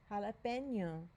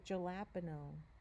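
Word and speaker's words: jalapeño: So in a Spanish word, jalapeno, we don't say jalapeno, right? We say jalapeno.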